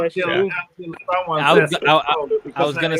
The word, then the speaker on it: Moog: It's pronounced O. Oh, it's Moog.